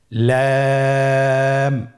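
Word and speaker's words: لام: লাম হরফটি উচ্চারণের ক্ষেত্রে অবশ্যই বারিক হবে এবং তিন আলিফ টেনে পড়তে হবে। আপনারা আমার সাথে বলুন লাম। লাম হরফটির মাখরাজ হলো জিহ্বার আগার কিনারা উপরের দাঁতের মাড়ির সঙ্গে লাগিয়ে উচ্চারিত হয়।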